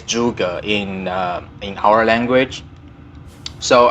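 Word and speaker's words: Zhuge: is z hu GE I heard people pronounce it jhuki jhuki orzo guy let's oh I'm incorrect and you should really pronounce this weapon juga in in the Rio pronunciation back to mandarin it's jus girl if you want to use English pronunciation or English accent it will be jus girl so it's not zhuji it's not juki is jukka the the spelling is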